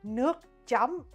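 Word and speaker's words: nước chấm: But it's actually Nuke jam, man.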